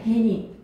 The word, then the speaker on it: 해님: 1번 비가 그치고 햇님이 구름 사이로 고개를 내비다 해서 햇님이 아니라 발음은 어떻게 해야 돼? 해님이야. 해님 왜?